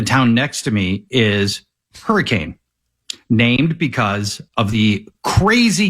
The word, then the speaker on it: Hurricane: whether or not you know the name of the city is supposed to be Hurricane, even though it is spelled exactly like hurricane.